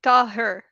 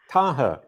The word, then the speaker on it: Taher: I'm Jason Barnard, and I'm here with Taher. Is that the right way to say it? That works. Oh, it's not correct. It's more like Taher. Taher.